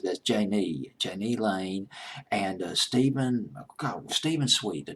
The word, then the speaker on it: Jani Lane: Janie Janie Kemp Rinna JJ a hi just pronounced that's Janie Janie Lane and Steven Steven sweet the drummer Plain Jane